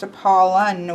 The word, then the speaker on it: Apollo: We have Apollo, which I believe he pronounced Apollon with an N at the end in Greek, but he is the